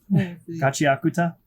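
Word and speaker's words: Gachiakuta: You want to pronounce that? Gachi Akuta. Gachi Akuta.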